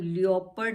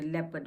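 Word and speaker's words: leopard: अब लेपर्ड में भी क्या है हमारा, ई के बाद ओ है, इसलिए हम लियोपर्ड नहीं बोलते, लेपर्ड बोलते हैं इसको।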